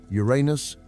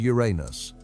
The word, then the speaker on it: Uranus: This choice has led to some public awkwardness, as there are 2 common ways to pronounce it, with no definitive agreement on which is correct: Uranus and Uranus.